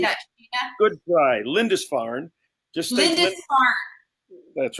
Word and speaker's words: Lindisfarne: And Fred Keating is a Canadian actor living out of Vancouver and is a partner in Lynn's Farney. How do you say that, Sheena? Good try. Lindisfarne.